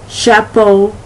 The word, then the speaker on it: chapeau: All right, that CH has the SH sound. An example would be Chevrolet. Let me see. Let me go back here. Chaperone, Chicago, chapeau, shanty.